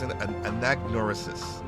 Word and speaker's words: Anagnorisis: Anagnorisis, right? And that's Anagnorisis. The G is silent.